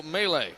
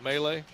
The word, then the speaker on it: Melee: It's going to be Logan Noyes of Burgettstown and Melee of Chartiers Houston. We going with Melee? Mel. Glad I asked.